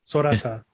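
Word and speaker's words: Sorata Akizuki: Author is Sarada Akizuki. Sarata Akizuki. Yeah. Yeah. See, yeah. Sorata. Yeah. So I think even like Sora from Kingdom Hearts.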